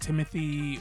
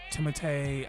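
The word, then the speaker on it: Timothée: Um, it's very noticeable on Donald and Timothy or Timotee. I think we call him Timothy, but I speak a little French and this is not how you pronounce the way his name is spelled, but again, it's fine.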